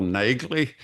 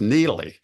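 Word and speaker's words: Neagley: into the canon as Neely. yeah. So on TV, her name is Neely with a silent G in there.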